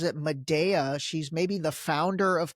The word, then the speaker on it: Medea: All right, let's jump right in, because this past week, I think, I believe she pronounces it Medea.